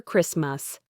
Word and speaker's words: Christmas: Christmas. You often hear Christmas.